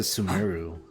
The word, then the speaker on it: Sumeru: Oh, they pronounce it Sumeru.